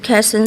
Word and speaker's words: Quezon: North, Quezon City.